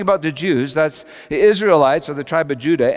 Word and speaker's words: Israelites: he's just spoken about israelites pronounced isra el etes in greeks but now he does